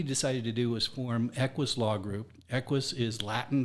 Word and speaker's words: EQUES: who we are and you pronounce it we pronounce it Eis although I've heard it pronounced about five or